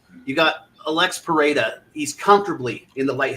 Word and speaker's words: Pereira: this fight I mean Pera prasa I'm gonna say Pera because I grew up with somebody whose last name was Pereira and was from Brazil and they always pronounce it Pera so I'm just gonna